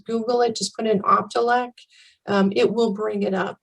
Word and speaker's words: Optelec: I used to mispronounce it all the time. Optelec.